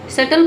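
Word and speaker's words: subtle: चलिए द बी is silent. B क्या है इसमें? साइलेंट है। सटल का हिंदी में मतलब होता है सूक्ष्म। में बी को बोला नहीं जाता लेकिन दिखा जरूर है। मतलब कि लिखना जरूरी है।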